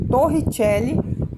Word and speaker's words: Torricelli: Torricelli se escreve Torricelli, mas é Torricelli que se pronuncia.